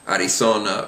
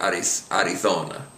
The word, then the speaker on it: Arizona: I personally find this very difficult to not slip in a Z sound, an English Z sound, especially on a word like I want to say something like Arizona. Just watch it that you pronounce it like you're chosen either the Latin American or the Spanish version, Arizona or Arizona.